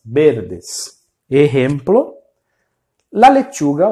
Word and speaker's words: verde: O som do V em espanhol, do nosso V, vai ser sempre com som de B. Então vocês verde, verde.